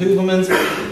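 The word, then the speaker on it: Heuvelmans: late Belgian zoologist Bernard hoverman there are several different ways of pronouncing his soname but today I'm going with hoverman there are various illustrations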